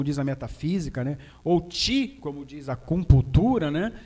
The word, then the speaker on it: qi: Ou ti, como diz a acupuntura, né? Ou seja, se escreve QI, né? Mas se pronuncia ti, é energia vital.